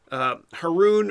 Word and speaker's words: Haroun: Haroun rhymes with baboon. So when I see Haroun, Haroun, I'm going to think of baboon. Now you'll never forget how to pronounce my last name.